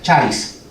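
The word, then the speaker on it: χάρις: La palabra griega para gracia en inglés se pronuncia charis, en español sería caris.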